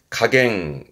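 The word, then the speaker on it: 加減: 발음은 가갱, 가갱.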